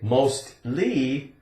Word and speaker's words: mostly: Now, if we say mostly, L-Y at the end, it still has that T sound.